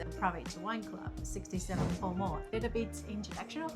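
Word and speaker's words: Palmer: I'm never sure whether to pronounce it Pall Mall or Parma, but it is Parma champagne.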